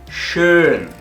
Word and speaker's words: schön: decir la letra O, y dices una E a la vez, y te va a salir este sonido. Schön, das Brötchen, schön, bonito, guapo, das Brötchen, el panecillo es bonito, das Brötchen ist schön.